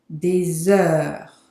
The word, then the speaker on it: des heures: So here you have to do the liaison between the S and the heure here. Des heures. The H is silent. So it's like it's not there.